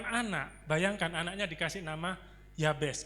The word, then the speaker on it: Yabes: Saking mamanya ini stres melahirkan anak, bayangkan anaknya dikasih nama Yabes. Kalau bahasa aslinya bacanya Yabets.